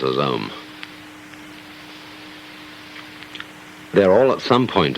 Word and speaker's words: Om: Chief of these is the syllable Om, or Aum, called the pranava, or the sound of God, because it involves the whole range of the voice from the back of the throat to the lips.